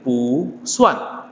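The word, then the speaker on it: 不算: Nah, maka bacanya adalah jadi pu suan. Pu suan. Jadi pu dari nada keempat berubah menjadi nada kedua.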